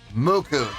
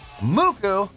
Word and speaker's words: MUCC: they called mck no no they're not called Muk I've been told this in the past it's pronounced muku yes indeed how about that muku making their debut on the channel before we